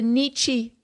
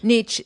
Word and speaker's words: Nietzsche: and this is famous for something called the nietzsche road or the nietzsche path nietzsche nietzsche i